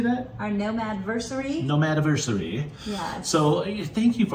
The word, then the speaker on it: Nomad-versary: Nomad-versary.